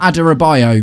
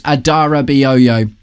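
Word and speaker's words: Adarabioyo: Um, it's not Adorabio because it's not how it's spelled. It's Adarao. So, if you're watching this, that's how you say his name.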